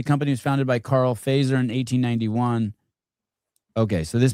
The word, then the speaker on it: Fazer: breakfast at Fazer cafe. It's f e z e r. Fazer you pronounce it maybe in English, but uh Fazer you pronounce it in Finnish. Sounds like Pfizer, but not Pfizer.